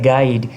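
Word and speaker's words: guide: गाइड गाइड के अंदर you silent है।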